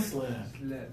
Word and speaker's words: slip: first sleep yeah and now the more difficult one low tongue slip really good pronunciation that